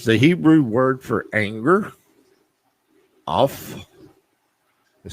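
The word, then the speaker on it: אף: okay what is the hebrew word for anger off it sounds like o f f but that's the way it's pronounced in hebrew okay so what does it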